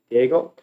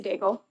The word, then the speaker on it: Daigle: When it comes to pronouncing names, is it Diego? Yes, Daigle.